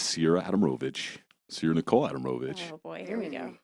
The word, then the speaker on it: Ciara Adamrovich: this is my sister it's me ciara adam rovitch you didn't even say my name right it's cool do i you need three more of those to say my name right okay i'll say it correctly it is sierra adamrovich so you're nicole adamovich